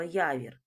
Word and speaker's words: явір: Скільки ж складів має слово явір? Я вір. Так, два склади. Перше звукосполучення я. Другий склад - вір. Наголос на який склад падає? Давайте покличемо Явір на перший склад.